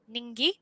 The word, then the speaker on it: Ningi: the lovely Pete Ridlington, and this company is Ningi. Just had to confirm how to pronounce it, but I've been told that's spot on.